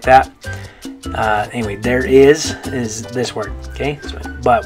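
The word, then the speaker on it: hay: Okay, we'll talk more about this later, but the letter H, just so you know for this one, the letter H is always silent in Spanish.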